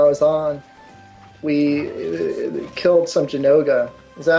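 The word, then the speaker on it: Zinogre: first time I was on, we killed some Jinoga. Is that how you say it? Jinoga?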